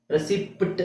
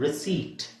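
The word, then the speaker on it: receipt: ರೆಸಿಪಿಟ್ ಅಂತ PT ಹೇಳ್ತಾರೆ, P is silent. ರಿಸೀಟ್, ರಸೀತಿ.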